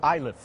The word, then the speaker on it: Iliff: this boy here has got a funny last name and it's actually pronounced islip believe it or not sean i live first free throw is no good number 23.